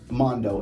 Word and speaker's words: M4ndo: spell your name now so it's Mondo M4 n d o the reason I spell it like that so is cuz I'm